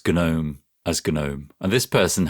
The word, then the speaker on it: GNOME: Anyway, and then my friend listened to the show and said, "Huh, he can't even pronounce Gnome properly." And then I had to explain, "No, it is Gnome."